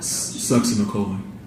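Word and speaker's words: succinylcholine: And how do you pronounce that again? Sucks in the colon.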